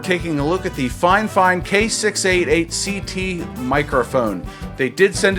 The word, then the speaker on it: Fifine: The only talking point they gave me was, hey, our company's pronounced Fifine, even if it's spelled like this, Fifine.